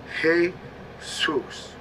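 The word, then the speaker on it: Jesús: s e u s but in Spanish they pronounce it hey Zeus and in Latin it is referred to as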